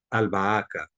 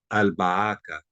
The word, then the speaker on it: albahaca: la B, como es albahaca, albahaca. Entonces la L del artículo se pronuncia.